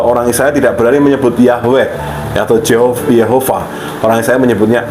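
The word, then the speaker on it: יהוה: Kemudian kata kedua, nah ini sama seperti sebelumnya ya, bacanya Yahweh, pelafalannya Yehovah ya.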